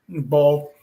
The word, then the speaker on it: boil: How do you say BOIL? BOIL. Boil. Boil. Yeah. Boil. Don't have a crawfish boil. BOLL. Boil. Ball. Crawfish ball. Yeah, ball. Yeah.